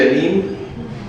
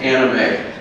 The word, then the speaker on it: anime: pronounce this anime medley I see it I see a neem but I guess it's anime right the anime medley by